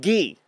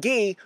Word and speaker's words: ghee: So, my first thing, okay, this is a jar of ghee, which is spelled G-H-E-E, and what that is, if you can see, is that it's clarified butter.